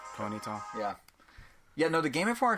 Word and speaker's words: Ponyta: Ponyta.